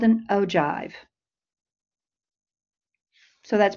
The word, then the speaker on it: ogive: A cumulative frequency graph is also called an ogive. So that's pronounced ogive.